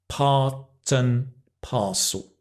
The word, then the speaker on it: part and parcel: it comes to pronunciation this is a binomial so part and parcel um the and becomes an part and parcel Parton Parcel and it's part and